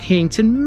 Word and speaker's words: Heighington: housing which have expanded hington massively in recent decades it all means High farm and it's sometimes pronounced heyington let's go this